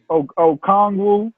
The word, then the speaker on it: Okongwu: Okongwu. Help me out with that. Okongwu.